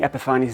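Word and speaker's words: Epifanes: And I'm saying Epiphanies now cuz that's how they say it in the videos.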